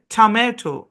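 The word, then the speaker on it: tomato: এই শব্দটা আমেরিকানরা উচ্চারণ করে টমেটো, টমেটো, টমেটো।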